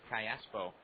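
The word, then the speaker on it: Callapo: will be the hitter kayaso from marai Venezuela 22-year-old infielder a second Bas whom the Angels like quite a bit spells the last name c a l l a p o pronounced Kayo switch hitter batch left-handed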